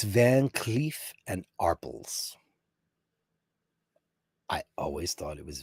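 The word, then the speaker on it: Van Cleef & Arpels: It is Van Cleef and Arpels. That's the correct pronunciation.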